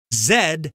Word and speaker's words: Z: and asks mr vinette zed is how i heard you pronounce the last letter of the alphabet why do americans say z zed is the british pronunciation and you're right z is chiefly american i use both pronunciations